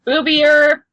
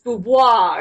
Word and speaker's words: Boudoir: Boobior, it's spelled like Boobior. Indeed. But it's boudoir. It's all fancy like and shit.